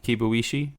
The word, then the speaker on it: Kibuishi: kibuishi and Sam hair no you said that right yes I did I did say it right kibuishi kibuishi she's uh Asian-American so I